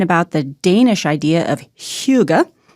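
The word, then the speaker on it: hygge: people are talking about the Danish idea of Huga spelled h y g g I had to look up the pronunciation CU otherwise I never would have guessed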